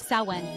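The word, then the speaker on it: Samhain: ancient Celtic festivals especially samine pronounced saen when folks believed Spirits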